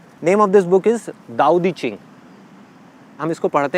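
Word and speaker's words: 道德经: Name of this book is दाओ दी चिंग। हम इसको पढ़ते हैं तो इट इज़ ताओ, TAO, बट we pronounce it एज दाओ।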